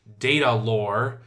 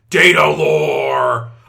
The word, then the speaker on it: Datalore: I mispronounced the first one intentionally. I believe the correct pronunciation is Datalore. Datalore!